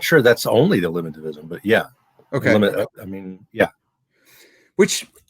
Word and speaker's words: eliminativism: And so what you do in covering folk psychology, for instance, the argument is there's folk psychology and there's eliminativism. Am I pronouncing that right?